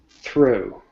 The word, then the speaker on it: through: Through is going from a basically almost like an o sound. Ooh, ooh, ooh, through.